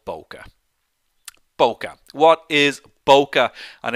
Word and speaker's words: bokeh: So first of all, it's pronounced bokeh. B-O, bokeh. Not bokey, not bokeh, it's bokeh.